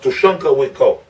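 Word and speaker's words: Tȟašúŋke Witkó: In Lakota, his name is pronounced Tushunka Wiko.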